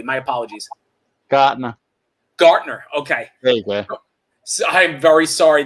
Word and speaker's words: Gaertner: my guest today on joe's place is gertner um and and and we've been having a great conversation i'm sorry say that one more time i don't make sure i say it correctly my apologies gartner okay so i'm very sorry that i keep